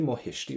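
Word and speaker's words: mo thuistí: Ryan you can say mo hisy right so what we're can go for is Mo hisy for my parents but again don't pronounce that letter t m hisy or Tish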